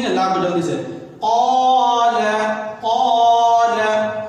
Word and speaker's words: قال: قال قال. لا کو قاف کو کھینچیں گے، لا کو جلدی سے. قال قال. قاف الف زبر قا، لام زبر لا.